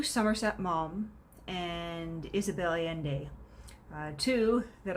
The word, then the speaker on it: Maugham: uh w somerset mom it's kind of a weird spelling it's you know m a u g h a m and so you see that and you wouldn't think it's pronounced you know mom you would think oh it's moham or magum or something like that but uh no it is in fact mom and then of course